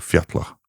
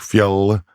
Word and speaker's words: fjall: Because I was like thinking, does that mean that the Icelandic took fjall and made it a fjalla, because that's how you pronounce double L now?